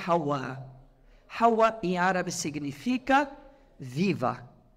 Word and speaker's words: Hawa: O W é pronunciado como V e o H não é pronunciado, ficou como Eva.